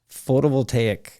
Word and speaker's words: photovoltaic: oil yeah and PV systems how do you pronounce that again photo will take photovoltaic it makes me want to say prophylactic your